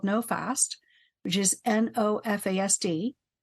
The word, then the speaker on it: NOFASD: NoFast, or NOFASD, is one, and the other is FASD Hub.